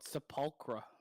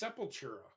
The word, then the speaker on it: Sepultura: I always thought that was called Sepulchra for some reason. Sepultura? Yeah, the Sepulchra. Sepultura. It's Sepultura. I know. I didn't know it was like pronounced that way.